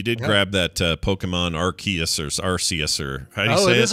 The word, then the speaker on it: Arceus: grab that uh pokemon arceus or rcsr oh it is arceus i'm glad our chaos are ortius yeah it is a hard c boy it's a hard